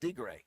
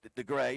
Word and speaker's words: DeGray: I've never heard it pronounced D-Gray. You can either go DeGray or D-Gray. That's the just more pronunciation for it.